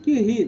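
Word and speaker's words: Curie: Rio nome francês tem esse cure aqui ó pronúncia correta aqui uma barriga que rir né que ela ficava rindo não né é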